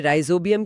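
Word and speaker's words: Rhizobium: विकल्प एक है राइजोबियम और यहां नोट्स में राइजोबियम की दो अलग स्पेलिंग लिखी हैं। पर हम इसे राइजोबियम ही पढ़ेंगे।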